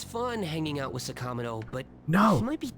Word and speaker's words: Sakamoto: by sakamoto all day sakamato it's sakamoto sakamoto sakamato it's such